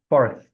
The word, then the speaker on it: fourth: We just say fourth a little quickly, like this. But if you don't know, if you can't pronounce the TH correctly, you're just gonna sound like the cardinal number 4.